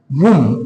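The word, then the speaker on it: womb: आपने सही सुना टम ये उम नहीं है है ना ये है वम क्या है उम ठीक उसी तरीके से जिस तरीके से टम होता है उसी तरीके से वम है अब ये क्या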